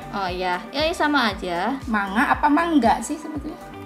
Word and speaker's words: manga: ya Eh sama aja manga apa enggak sih sebetulnya kalau pengucapan di Jepang itu sebenarnya mangga cuma n sama g Itu kedengarannya lebur jadinya ya kedengeran manga Angel Iya gitu Pepaya